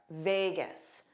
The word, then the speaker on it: Vegas: And then the stress is on v and then the end is g because it's unstressed. Vegas. Vegas. Las Vegas. But many native speakers will drop the loss and simply say Vegas.